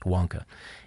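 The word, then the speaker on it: Vanke: greatest of the developers it's spelled vanki but pronounced Wonka is coming under a fresh round of financial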